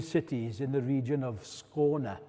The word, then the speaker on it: Skåne: in the region of Skåne, as the Swedes say, or Skåne, as we say, as we Brits say.